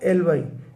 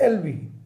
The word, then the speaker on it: alibi: कहते हैं plea of एलवी या प्ली ऑ सही उच्चारण इसका प्ली ऑफ एलवाई है लेकिन चलन में